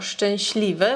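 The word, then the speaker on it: szczęśliwe: Проте sz вимовляється як ш, ц як ч і тому маємо шч, щ.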